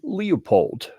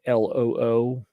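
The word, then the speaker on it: Leupold: in here somewhere to call out the proper pronunciation, which is more like you'd spell it Loopold, loophole. Like if you say it that way, that's the way they want you to say it.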